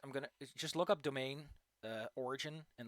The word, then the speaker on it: demesne: It's called domain.